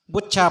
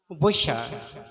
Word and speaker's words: butcher: you watch not watch we pronounce bucha bucha it is pronounced busha b-u-t-c-h-e-r butcher t is silent and very interesting word